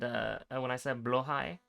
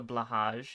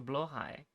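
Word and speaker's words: BLÅHAJ: They called me crazy when I said Blohai, but that's how you pronounce it. It's not the Blahaj, it's the Blohai.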